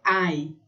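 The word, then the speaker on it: ail: O A é quando A e L, que é alho em francês, é ai. Eu não vou falar o L. Ai.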